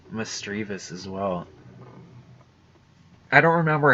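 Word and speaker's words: Misdreavus: making that mistake, but I used to call Miss Drivas Miss Drevius. Like if it had an I in the back of the word. Like I always pronounced it like there was two I's instead of one, so.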